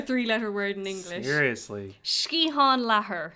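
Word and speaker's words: sciathán leathair: word in english seriously shkihan laher skiatham lethar no shkihan oh my god you sound irish i love it milsian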